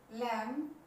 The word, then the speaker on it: lamb: इसका मतलब ये हुआ कि अगर ठीक बी से पहले एम आ जाए तो बी साइलेंट रहेगा। ये कह सकते हैं एम के बाद बी हमेशा साइलेंट रहेगा, बोला नहीं जाएगा।